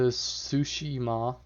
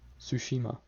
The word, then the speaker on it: Tsushima: yes i'm from japan it's not sushima it's sushima tsushima i don't say sushima